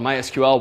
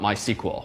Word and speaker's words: MySQL: call the company called MySQL once and they do in fact pronounce themselves mysql not my sequel which frankly i find silly it's a lot faster on fewer syllables to say my sequel but it's their company